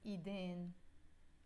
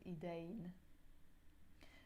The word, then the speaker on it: إيدين: So, the words hands in Arabic is إيدين. Or you can also pronounce it إيدين.